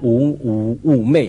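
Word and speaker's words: 妩媚: 两个字叫妩媚，好难读啊，妩媚哈。其实呢，差点读成侮辱。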